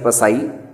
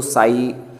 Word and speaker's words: psi: ये सिंबल जो है PSI, लिखने में PSI पसाई, लेकिन P साइलेंट है तो इसको साई रीड करेंगे, साई।